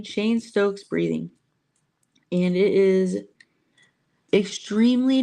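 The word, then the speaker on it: Cheyne-Stokes: had what is called Shane Stokes breathing. Shane Stokes. It's not spelled that way. It's spelled more like looks like it should be pronounced Cheyenne, but it's Shane Shane Stokes breathing.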